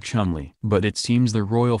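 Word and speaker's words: Cholmondeley: of Coleman de lis which is somehow pronounced like Chumlee but it seems the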